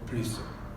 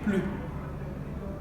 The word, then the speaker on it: plus: Avec le sens négatif, on ne prononce pas le S. C'est-à-dire on ne dit pas plus, on dit pas plus, on dit plus.